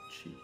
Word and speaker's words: qi: Chi is pronounced s Qi is not q but Chi which means breath air